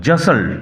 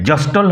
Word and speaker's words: jostled: জাসল্ড, উচ্চারণ লক্ষ্য করো, জাসল্ড, টি সাইলেন্ট থাকবে, জাস্টল হবে না, জাসল।